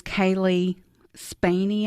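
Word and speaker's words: Cailee Spaeny: actress um but um her name is Kaylee spany I believe is how you say her last name she's grew up in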